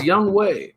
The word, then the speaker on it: Younghoe: And that's how you pronounce it. It's Younghoe. Younghoe Koo. It's not Younghoe. It looks like Younghoe. And I like Younghoe better. It does. I mean, yeah, but that's not how it's pronounced.